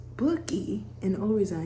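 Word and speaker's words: Boki: It's spelled B-O-K-I, but then it's pronounced Bookie, and the only reason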